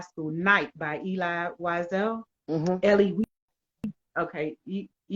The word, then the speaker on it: Elie: Ellie, okay, Ellie. I've had people pronounce it, but it's Night, and it's about the Holocaust.